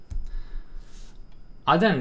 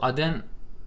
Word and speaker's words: Aden: Aden diye mi okunuyor? Evet, Aden diyor zaten.